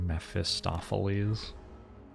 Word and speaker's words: Mephistopheles: fellas thank god it's a very silly word mephistopheles i feel like pronouncing that word wrong is probably more acceptable